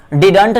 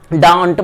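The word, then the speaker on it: didn't: हम लोग डिडंट नहीं पढ़ते हैं, डिंट पढ़ते हैं।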